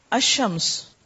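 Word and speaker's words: الشمس: आवाज आ रही है शम्स श म स तीनों ही हर्फ पढ़े गए अमस ठीक है लाम नहीं प्रोनाउंस हुआ वह इसम जिनके शुरू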